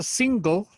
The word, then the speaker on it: single: Esa single, si se dan cuenta, no se pronuncia la E. En inglés casi siempre, o mejor dicho, casi nunca se pronuncia la E cuando la E va al final. Entonces hay que hacer el esfuerzo en la garganta un poquito para que suene la G de gato y la L de limón.